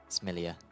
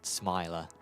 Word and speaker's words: Smilia: I think, is called Smilia. There you go. And that is why, because I said Smiler esports in round 1, which is not how you pronounce it.